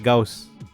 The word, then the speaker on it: Gauss: filter na gosan blur ang pangalan ng mathematician ay gaus pero somehow gosan ang bigkas ko sa Photoshop filter It's a common mistake actually hindi na nga siya mistake dahil maraming tao rin talaga ang nagbibike na gosan pero I want to